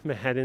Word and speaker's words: Manhattan: and my hand and people don't pronounce the t's here i don't know what people think manhattan is pronounced like but the t's ain't pronounced now is this the